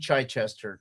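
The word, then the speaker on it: Chichester: Daredevil by DG Chai Chester. That's right. That's how you pronounce it.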